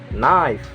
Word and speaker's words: knife: The next is K, and K is not pronounced when it comes before an N. Example: knife, no, knee, knock, note, and knowledge.